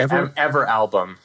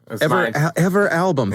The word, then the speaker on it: Everalbum: I would say Everalbum. Everalbum. Thank you. My interpretation. I had never heard of it either. So that is okay. Yep, I think that is the correct way to say it.